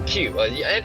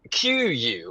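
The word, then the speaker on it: queue: I used to pronounce it qu because it has the u e in it.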